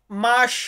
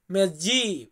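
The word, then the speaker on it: mese: মেসে মেসে মানে মাস বা অনেকে আমরা এটাকে উচ্চারণ করি মেজি উনমেজি এক মাস তবে মেসে এম এস সে এ মেসে মেসে মানে মাস আনো মানে হচ্ছে বছর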